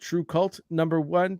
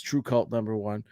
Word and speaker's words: TRVEKVLT: And then we have what I'm assuming is called True Cult #1, but it's spelled TRVEKVLT. Yeah. I'm gonna assume that's True Cult #1.